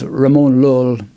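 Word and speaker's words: Ramon Llull: One of the reasons why they developed is because a guy whose name people argue about the pronunciation, but it's Ramon Lull. Commonly we pronounce that.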